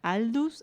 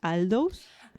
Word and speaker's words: Aldous: Julian era el hermano de Aldos que nunca supe pronunciar. Aldus. Aldous. Hoy estamos todos en English Aldus. Okay. Bueno, a vos te sale mejor.